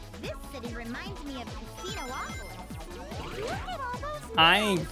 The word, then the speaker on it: Casinopolis: I don't like the pronunciation of Casinopolis. It looks like it should not have another O in it, but they pronounce it like there's two O's.